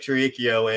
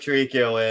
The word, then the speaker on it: Tirico: to retire we brought Mike tarikio in like that's not how you say his name it's fine you have trouble with names we all know yeah we brought Mike Tirico in because you were